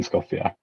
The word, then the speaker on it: Skopje: Is that how you pronounce it? Skopje, yeah.